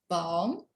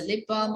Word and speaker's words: balm: same word lipa but in britain the l is silent but in america is not silent see this is the phonetic word there is a long a in balm okay we have long